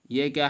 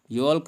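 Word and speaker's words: yolk: योक, ये क्या है, योल्क। योल्क क्या है, इसको हम, योल्क मीन्स होता है जर्दी। योल्क नहीं पढ़ेंगे बल्कि योक पढ़ेंगे, एल को साइलेंट रखेंगे।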